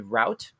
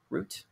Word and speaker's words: Route: a capuchin monkey named route root r-r-o-u-t-e depending on your regional dialect i guess that pronunciation can go either way and apparently picked up